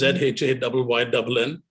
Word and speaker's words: Zhayynn: It's ZHAYYNN. There's no space, there's no dot, there's no hyphen, nothing, right? No. nothing. It's one word. Zhayynn James Photography. Yeah. Don't pronounce his name as. It's ZHAYYNN.